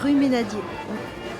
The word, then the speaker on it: Rue Meynadier: How do you say Rue Ménadier, c'est tout là. Rue Meander. Rue Ménadier.